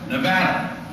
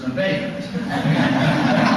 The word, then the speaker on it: Nevada: uh I'm a West Nevada no sir it's Nevada um the the winner